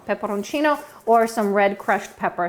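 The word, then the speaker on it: peperoncino: of some red crushed pepper in italian it's pepperoncino pepperoncino or some red crushed pepper throw that in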